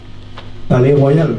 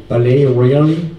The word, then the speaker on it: Palaye Royale: You should hear how they say it in America. Palais Royal? No, no? It's even worse. They're like, Palais Royal. Palais Royal. Royal. You need to be confident.